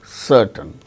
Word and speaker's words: certain: is not pronounced and before a consonant sound also it is not pronounced like certain c r